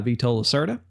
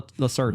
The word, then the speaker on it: Vital Lacerda: to play this game because it's made by Vito Lacerda. Vito Lacerda? Is that how you say it? Vito? Veto? No, that's like Vital? Vital? It's Vital. Vital. Vital. Vital? Vital Lacerda.